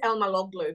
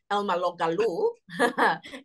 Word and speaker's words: Elmaloglou: the tongue easily it's it's as phonetically you know like it's Elma logo people like to add us you know um Elma loal Elma um but no it's just it's exactly how it's written it's actually quite simple